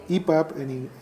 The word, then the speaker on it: EPUB: No, el libro electrónico actualmente, desde hace muchos años, es un libro que podemos denominar EPUB en español, EPUB, digamos con la terminación en inglés o con la pronunciación en inglés.